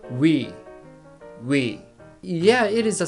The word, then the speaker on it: ㅢ: who pronounces this vowel so you can just consider this is we okay let's pronounce it